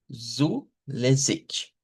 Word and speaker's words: zulässig: Y la vamos a pronunciar como zulässig. Zulässig.